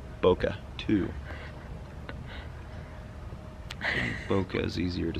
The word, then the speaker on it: bokeh: That's four syllables. Bokeh, two.